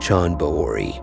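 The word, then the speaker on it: Chand Baori: the world's deepest stepwell Sean Bowery as the locals say was built by ghosts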